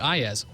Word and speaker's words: Iyaz: I still pronounce it Iyaz. Are you sure that's correct? I'm pretty sure. It's not usually how it's pronounced, but that's how I pronounce it.